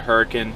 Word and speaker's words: Hurricane: It looks like Hurricane if you were to type it out on a map. H-U-R-R-I-C-A-N-E. But Utah's weird, it's pronounced Hurricane.